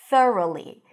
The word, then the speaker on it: thoroughly: So here the tricky part is the th and the r. So stick the tongue out for the th and then ru. Round your lips for the R and then Lee. Don't get confused by all the extra letters there, all the G's and the H's. Just ignore them.